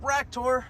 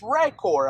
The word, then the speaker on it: Rakor: ahead and load up raktor and see what he can do sorry I was mispronouncing his name it's rikor actually not Rock Tour 60.9 that's a significant